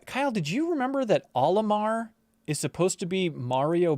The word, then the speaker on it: Olimar: we need you yeah because it's in japanese it's mario backwards is that not the case is it like katakana it would be mario backwards it would be orima orima should be orima so there's like an